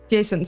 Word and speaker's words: JSON: Jason.